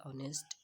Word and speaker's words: honest: Here is something as you all can see, dear students, कि and used before words such as our and honest as the sound is silent.